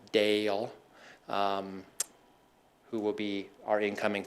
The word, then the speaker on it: Dale: So very, very talented team with John Lewis, who will be retiring in February, and then Shauna Dale, pronounced Dale, who will be our incoming finance director.